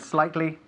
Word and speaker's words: slightly: And what's the most important thing we've learned about the pronunciation of the word slightly? La S, tenemos que enfatizar la S.